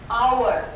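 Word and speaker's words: hour: एक ऐसा साउंड है, जैसे अपन ने कहा आवर, 1 आवर, तो अब यहां पर साइलेंट हो गया, नो साउंड।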